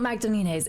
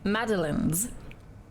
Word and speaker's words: Magdalene's: carolon we in Magdalene it's not magdalene's it's ma madaline's a silent g h the E sounds like an i and a silent E okay but we need